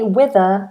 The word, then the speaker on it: wither: a Wither and remember with British English we don't pronounce this as an e r wither we pronounce this